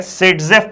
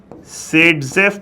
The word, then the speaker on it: Saytzeff: आप लोग को, उसको हम लोग कहते हैं सेडजेफ प्रोडक्ट। नाम याद रखना, सेडजेफ प्रोडक्ट।